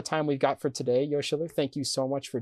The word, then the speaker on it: Yoshiller: My YouTube channel is called Yoshiller, Yoshiller, not Yoshi Killer, not Yosh Killer.